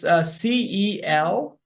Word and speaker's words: Celeste: Okay, can you spell that? Her name? Yeah. Yes, it's CELESTE.